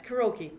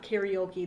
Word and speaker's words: karaoke: it even before that it's karoke by the way anybody that wants to sound intelligent it's not karaoke there's not extra letters it's karoke um but even before that